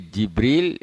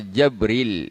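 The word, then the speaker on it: جبريل: Boleh Jibril, boleh bil kasri Jibril, atau dengan fathah Jabril bila hamzah. Boleh cara membacanya.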